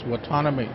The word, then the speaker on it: Whatsoname: My last name is Whatsoname, and I'm from the Wallapai Nation.